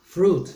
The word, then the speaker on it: fruit: remember not remember that there's a silent letter there that you don't pronounce fruit not fluid all right dairy products this